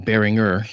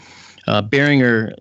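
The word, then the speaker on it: Barringer: in fact behringer are they call them bearing earth you know they don't it's not a soft G bearing her made his entry into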